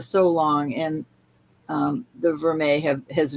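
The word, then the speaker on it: vermeil: Verme is gold over sterling.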